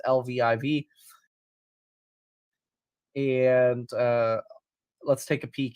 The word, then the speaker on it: Lviv: I believe you pronounce this Liv, but I'm probably entirely wrong about that. So it's Lviv.